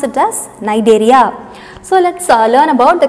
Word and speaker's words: Cnidaria: I told you shouldn't pronounce like Cnidaria. It is C is silent, so pronounce it as Cnidaria.